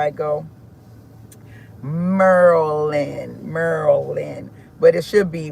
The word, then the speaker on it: Maryland: It should be Mer Maryland, but they say Merlin. So, I guess the um Y is silent. I think that's how it go. Merland.